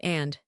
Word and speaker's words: and: You almost never pronounce the D in and unless you are pausing for dramatic effect. Fish and chips. Rock and roll. Black and white. The word and reduces to just the sound N, sometimes just a nasal grunt.